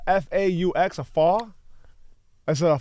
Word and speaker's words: faux: F-A-U-X, a faw? Is it a faw? Yeah, that's what it is. A faw, but you don't say the X, right? Not a fox.